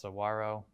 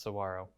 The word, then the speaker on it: saguaro: or whether it's that you learned that it's pronounced saguaro that's that's what i learned today i confirmed that yes it really is pronounced saguaro i was unsure of that as somebody that